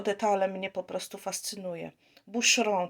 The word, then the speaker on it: Boucheron: mnie po prostu fascynuje bushroom taka wymowa Pamiętajcie ołów we francuskim wymawiamy jak u h ch jak sz Bush home No i takie tam ą na końcu Wybaczcie nie mam pewnie